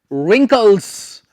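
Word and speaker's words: wrinkles: There are many रिंकल्स। सो इसमें हम W को नहीं प्रोनाउंस करेंगे।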